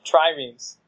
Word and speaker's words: triremes: Triremes. Good? It's a two-syllable word.